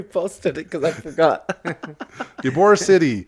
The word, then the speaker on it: Ybor City: Ybor City. Ybor City. Ybor City. It's spelled like Y-B-O-R.